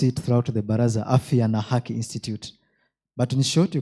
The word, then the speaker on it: Afya na Haki: I'll continue as I pronounce it throughout the Baraza, Afya na Haki Institute.